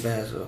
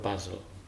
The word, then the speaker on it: Basel: Where are you getting basil from?